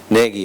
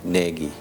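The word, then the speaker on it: Gnagy: Naggie. It was pronounc It was spelled G N A G Y. Naggie.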